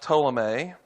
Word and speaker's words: Ptolemy: That's pronounced Ptolemy.